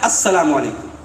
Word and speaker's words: السلام علیکم: جہالت کی بات ہے۔ صحیح تلفظ کیا ہے؟ السلام علیکم۔ تو یہودیوں نے السلام